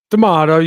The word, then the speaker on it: DeMato: DeMato, you got it on the second one.